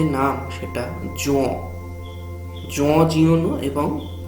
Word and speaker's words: Jean Giono: এবং জিন লেখকের যে নাম সেটা জন জিওনো, এবং প্রভেন্স শব্দটার প্রভাস এরকম উচ্চারণ হবে।